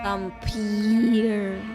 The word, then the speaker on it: Vampyr: Vampir tapi pakai Y. Jadi bacanya Vampir. Vampir.